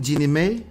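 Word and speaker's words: Jeannie Mai: for divorce from Jeannie what's her name again Genie May that's how you pronounce it somebody type out the pronunciation for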